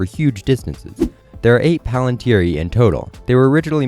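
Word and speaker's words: palantíri: just use that but the plural doesn't really make sense with that pronunciation so i'll use paland here and so the plural would be palantiri as you know the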